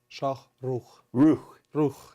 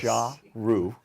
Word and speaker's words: Shokhrukh: And let's see how we do with the Russian pronunciation here. Shokhrukh. Shokhrukh, yes. Shokhrukh.